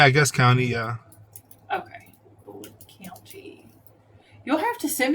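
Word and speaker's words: Bullitt: of the Beast of bullet Co I don't know if that's how it's pronounced is it bullet County yeah like b u l l i TT but yeah but County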